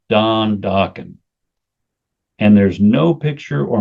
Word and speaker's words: Dokken: I'll call it Dokken, you know? Rhymes with rockin'.